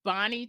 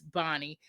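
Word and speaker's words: Bahni: And when I got the audio book and the narrator is Bonnie Turpin. I hope I'm pronouncing her name right. It's spelled B A H N I. So I I hope that it's Bonnie.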